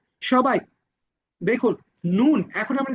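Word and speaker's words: نون: পড়া ধরা হবে ইনশাল্লাহ ওকে তো সবাই দেখুন নুন এখন আমরা যে হরফটি শিখব নুন নুন নুন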